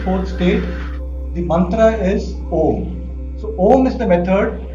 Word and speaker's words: Om: So it is, you are not supposed to chant it as Aum. That is wrong. As per Sanskrit, that is wrong. So we are supposed to chant it as Om.